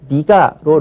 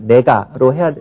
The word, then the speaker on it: 내가: 건지 잘 구별을 못하니까 어휘의 내가는 그냥 네가로 이렇게 바꾸어서 발음하는 경향이 있습니다. 하지만 네가는 아직 표준어로 인정된 것이 아니니까 역시 내가로 발음을 해야 되겠고 표기할 때는 당연히 어이로 표기를 해야 되겠습니다.